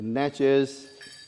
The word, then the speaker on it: Natchez: It's the Edisto Natchez Kusso. Edisto, It- how you spell It's Edisto, Edisto. right? Yep. The Natchez, it's Natchez.